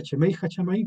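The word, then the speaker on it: שמי השמים: Aquí se se pronuncia chemei chamaí, que está el concepto bíblico original, pero en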